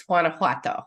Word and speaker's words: Guanajuato: now um the name of the state is Guanajuato it's difficult it's such a beautiful melodic uh